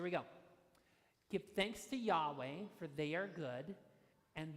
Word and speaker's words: Yahweh: so the first one is Yahweh which is pronounced Yahweh you say that Yahweh okay that's number one the second one is